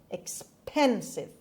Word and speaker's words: expensive: nine expensive expensive expensive the word has three syllables and the stress is on pip expensive expensive pasta stresses it